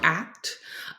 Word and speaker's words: ACT: Today we're going to be diving into acceptance and commitment therapy, or ACT, which is pronounced like the word ACT, not as the acronym ACT.